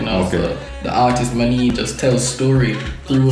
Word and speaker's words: Ma'neen: Actually, so my real name is spelled Ma'nnin, but pronounced Ma'neen, and all through high school, people used to call me Ma'neens, Ma'neeny, just because of how it look.